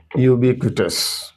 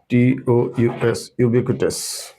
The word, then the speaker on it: ubiquitous: एक बहुत ही common word है, सब लोग जानते होंगे, यूबिक्विटस। पता है यूबिक्विटस? स्पेलिंग है UBIQUITOUS, यूबिक्विटस।